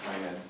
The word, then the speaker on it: Aquinas: Aquinas is how it's pronounced. Aquinas, thank you.